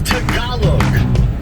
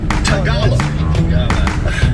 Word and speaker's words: Tagalog: I think you are choosing to say it wrong because it's funny. It's Tagalog. Tagalog.